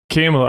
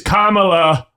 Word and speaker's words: Kamala: not voting for for I thought I said it right camela I was like I'm not voting for camela it is Kamala I was like oh